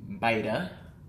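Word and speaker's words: BYTA: BIDA is how they pronounce it.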